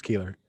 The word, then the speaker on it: Keillor: Lake Wobegon days yeah I'm pretty sure it's Keeler okay garrison keillor finally finally it's everything Keeler is right I know how it